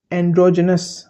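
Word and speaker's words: androgynous: तो इन दोनों वर्ड से मिलकर एक वर्ड बनता है ए एन डी आर ओ जी वाई जी वाई एन ओ यू एस एंड्रोजेनस ज का साउंड आएगा इसमें भी ज का ठीक है एंड्रोजेनस एंड्रोजेनस कौन होता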